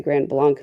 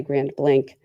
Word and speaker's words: Grand Blanc: I want to say Grand Blanc, Michigan, but I think the locals say Grand Blank.